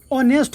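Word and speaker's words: honest: आई एम ए ऑनेस्ट बॉय लगा दिए। लेकिन यहां पर देखिए ये जो एच है इसका उच्चारण ऑनेस्ट हो रहा है।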